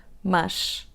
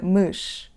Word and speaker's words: mas: Now, let's pronounce the word: /mɐʃ/, /mɐʃ/, /mɐʃ/, /mɐʃ/. So, the sound is not open, but it's not /ə/, it's not /məʃ/, OK?